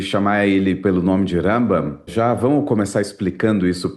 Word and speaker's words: Rambam: Na mesma época que viveu Rambam, no sul da Espanha, viveu Ramban na região de Barcelona. A diferença é só o N e o M final, então Rambam e Ramban.